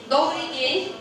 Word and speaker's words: добрый день: So to say good day, we say добрый день.